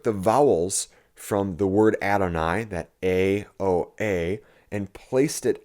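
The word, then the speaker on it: Adonai: also in Hebrew uh the A and the Y together produce um an I sound so this would be read adoni so the mazarites took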